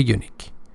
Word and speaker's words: unique: unique because youu here actually starts with ye in pronunciation so that's why we we don't say an unique say a unique exper experience for for